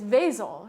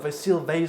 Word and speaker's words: Vasil: and actually I I realized I might have been saying your name wrong all this time it's vasil right yeah I go by both some people like really